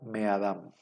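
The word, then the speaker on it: מֵאָדָם: lo normal es que la nun desaparezca la primera consonante debería de llevar un dages como es gutural y no admite dages entonces va para compensar va a alargar la vocal precedente la vocal precedente es una hirek y la hirek se alarga en un cerej entonces en lugar de min Adam la palabra queda me Adam me Adam dónde quedó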